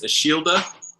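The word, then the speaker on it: Ashildr: But because they don't pronounce the R's really, it's Ashilda.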